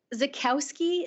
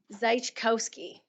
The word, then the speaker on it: Zajkowski: Okay, we will move on to our next speaker, Zakowski. Is that correct, how I pronounce it? Zajkowski. Zajkowski.